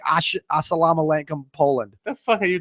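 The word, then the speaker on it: السلام عليكم: I swear it's called Osalam Alenkum. It's Polish. It's a Polish. Don't quote me. Whatever. It's pronounced Assalamu alaikum.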